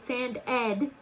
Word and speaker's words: sanded: also for this word because it's sand ed sand ed it gets a special accent right here you put a little accent because the suffix ed is making a second syllable sound ed tand sand ed